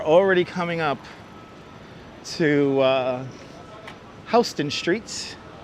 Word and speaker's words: Houston: coming up to uh hon streets not Houston Street hon streets we pronounce it hon because that's how you pronounce the family's name who used to own the land around here the Dutch family's name